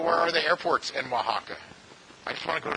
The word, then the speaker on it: Oaxaca: Has anybody ever been to, probably mispronouncing it, does anybody know how to say it, the state of Oaxaca correctly? Oaxaca? Okay, thank you. So I want to go to Oaxaca.